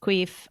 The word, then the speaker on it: QUIF: It's pronounced Queef.